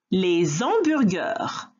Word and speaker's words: hamburger: but also, and importantly, the h in hamburger in English, which is hamburger en français, and hot dog en français versus hot dog in English, those h's are not pronounced.